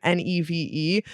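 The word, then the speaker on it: Niamh: It sounds like we're saying like nebell's name ne but the Irish spell it n i a mh.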